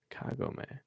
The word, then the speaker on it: Kagome: Kagome? Wait, what? Oh, Kagome. Interesting. So I say I kept reading it as like garden gnome, and that's the only thing that was popping into my head for that.